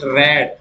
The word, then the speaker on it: read: Then we consider is the second form और the third form we pronounce it रेड। जब हम इसकी second या थर्ड फॉर्म कंसीडर करते हैं तब इसका करेक्ट प्रोनाउंसिएशन होता है रेड।